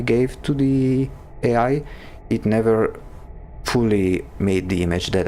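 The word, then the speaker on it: Niamh: Her name is Irish and pronounced Neve.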